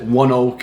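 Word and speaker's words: ONEOK: one oak incorporated okay i did look it up that's how you pronounce it one oak and what this company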